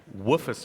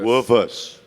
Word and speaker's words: Woofus: and I'm going to I've been mispronouncing this all week and every single time I do. It drives Traml crazy, but it's the Woofus award. The Woofus. The Woof. The woofers.